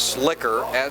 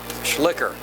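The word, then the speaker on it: Schlicher: what's possible i believe the pronunciation is slicker c h e s-c-h-l-i-c-h-e-r j schlicker the ball carrier picks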